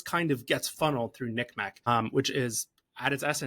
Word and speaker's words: NCMEC: for missing exploited children abbreviated ncmec or pronounced nickm unless it removes all lgbtq plus references and begins dead naming trans kids Nick Mech has started complying they've